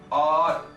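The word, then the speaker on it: hour: आर को बोलिए आर। इसमें एच साइलेंट है और ये जिस साउंड से शुरू हो रहा है वो वॉवल की साउंड है।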